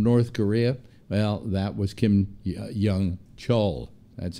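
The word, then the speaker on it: Kim Yong-chol: to somebody from North Korea well that was Kim Jung Cheol that's how his name is pronounced a grand jury in New York City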